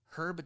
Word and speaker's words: Herb: at one point producer Erb Jaffe had the right herb herb Jaffe you have to remember that you have to pronounce the h when it's a person herb Jaffe had the rights